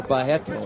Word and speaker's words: Barreto: Or Barreto, as they pronounce it in Brazil.